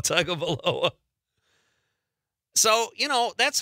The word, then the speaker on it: Tagovailoa: Tagovailoa. I don't think Chad said it right. Tagovailoa. Tagovailoa.